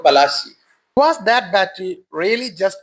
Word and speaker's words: Palashi: in 1757 at the Battle of Plassey. Sorry, Battle of Palashi. I have always wondered why we are taught to use such mispronunciations of foreigners, like Diamber for Udayamperu, Visak for Visakhapatnam, and here Plassey for Palashi.